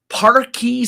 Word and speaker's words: Parkee: Parky Sparks. Parky Sparks. So this is versus Parky Sparks. Now, Parky is spelled Parkee.